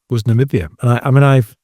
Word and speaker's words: Namibia: Numbai. Is that how you pronounce it? Namibia. Yeah. N there you go.